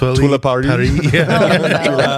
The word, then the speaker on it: Twila Paris: I've heard her name mispronounced. I'll just say that. Twila. Yeah, it's gotten weird. Twila Paris.